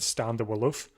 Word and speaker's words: De Wulf: So I've been I've been pronouncing him De Wulf, and but I know his first name is Stan, but the commentator just said Stan De Wulf. So at least I think I I think that's how you pronounce it.